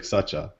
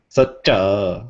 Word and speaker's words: Saccha: on Twitter report dude it's F not even spelled like that in English though it's like sucha sucha okay you can follow